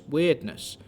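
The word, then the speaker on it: Wyrdness: the Red Death and the mysterious weirdness. And yes, that is how it's pronounced.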